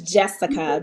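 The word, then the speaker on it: Jeska: And her name is Jessica, but it's spelled J-E-S-K-A.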